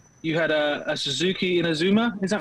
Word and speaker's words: Inazuma: your bike, and how you had a Suzuki Inazuma, is that right?